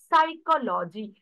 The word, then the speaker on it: psychology: telling it as a psychology which means p is silent here that is nothing but